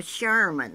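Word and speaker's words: Scheuerman: and she married a Sherman now this is how they spell it s-c-h-e-u-e-e are m-a-n and they had two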